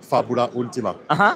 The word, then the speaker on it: Fabula Ultima: This is a good pronunciation, Fabula Ultima.